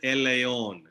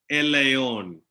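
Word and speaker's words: ἔλαιον: is oil in greek olive oil is called el ion can anybody tell me how do you say oil olive oil in greek el ion did you hear me el ion you say that along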